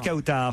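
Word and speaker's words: Kawtar: Bonjour Kautar, je prononce bien votre prénom. Oui, c'est bien ça.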